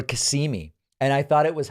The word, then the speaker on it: Kissimmee: Last week, I talked about Kissimmee, Florida, and someone told me it's Kissimmee or Kissimmee.